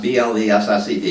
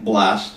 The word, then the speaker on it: blessed: And the word blessed, B-L-E-S-S-E-D, is actually can be pronounced either way. You can say blessed or you can say blessed.